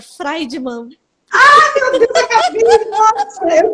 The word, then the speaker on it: Friedman: Eu vou, amor, é Friedman, é chique, mas sabe qual é a pronúncia certa? Friedman.